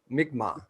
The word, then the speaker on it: Mi'kmaq: Would you say the name It's of your Mi'kmaq. Mi'kmaq? All Yeah. right, so thank you, and pardon my white boy pronunciation.